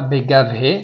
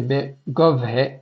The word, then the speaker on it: Begovhe: Begovhe, c'est pas Begavhe, c'est Begovhe Meromim.